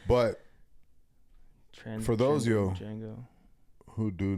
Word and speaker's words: Django: Yeah, it was Django on that bitch, with no D, actually Django Fat. But for those of you Django who do not no D transgender Django, yeah, no D.